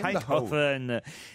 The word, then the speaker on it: Eindhoven: Voilà, très bien prononcé, Eindhoven. Eh oui, Eindhoven.